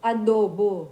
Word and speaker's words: adobo: Adobo.